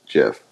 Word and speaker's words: GIF: talked about this yesterday were you around definitely gif no the the maker of jiff came out and said it's pronounced jiff no one cares okay at least i'm pronouncing